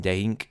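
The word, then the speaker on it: dein: the others too and Dink here is one syllable is kind of an inword elision called aesis dink now begins his rebuke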